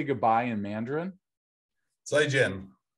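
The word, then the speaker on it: 再见: If you were to try and spell it in English, yeah, it'd be Z-I and then J-I-A-N, probably as close as you'd get.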